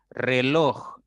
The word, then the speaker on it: reloj: Reloj. Es una palabra de 2 sílabas y la mayor intensidad está en loj, en esa sílaba.